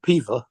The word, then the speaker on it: Peover: and Higher over, except it's pronounced Piva.